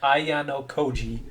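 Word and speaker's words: Ayanokoji: So this is how you pronounce this guy's name, Ayano Koji.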